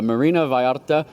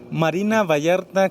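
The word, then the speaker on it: Marina Vallarta: We are back once again live from Porerto Varta, Mexico, and I'm at the Marina Viarta Golf Course. I don't say it properly, Ivon, you say it. Marina Vayarta Club de Golf.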